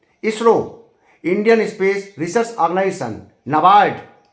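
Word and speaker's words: NABARD: नाबार्ड, यहाँ पर ए साइलेंट है, ध्यान रहे, कंफ्यूज हो जाएंगे आप। National bank for agriculture and rural development, नाबार्ड। पहला एन के बाद जो ए है वो साइलेंट है, उसको आप नेशनल में ए मान लीजिए।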